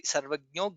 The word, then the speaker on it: सर्वज्ञो: The only thing is we should pronounce gnya correctly. Sarvagno jnanamuttamam.